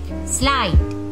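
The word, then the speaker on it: slight: स्लाइट, देखिए जी एच क्या है, साइलेंट है।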